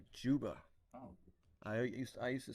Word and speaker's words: Zuba: So I learned it's actually pronounced Juba.